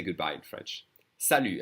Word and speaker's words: salut: say goodbye in French salute and we don't say the T the French will always